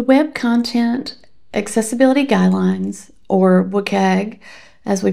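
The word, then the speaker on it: WCAG: The web content accessibility guidelines or WUKG as we pronounce it are undergoing a significant transformation with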